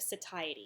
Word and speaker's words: satiety: is the satiated state, or a feeling of satiety, it's pronounced. If you've been seeing that term in your book and you're like, how is that pronounced? I've always heard it pronounced satiety, so it looks like satiety.